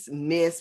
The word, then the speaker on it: Myss: the Spirit by Carolyn Mace. Mace. Mace. However you want to say it, right? Miss, but it's spelled Myss, as you can see right there.